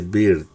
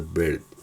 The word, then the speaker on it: bird: Entonces se dice aquí, no se dice beard, se dice bird.